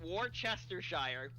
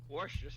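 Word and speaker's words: Worcestershire: at at the beginning War the if I pronounce it War Chester Shire let's break down the syllables if I if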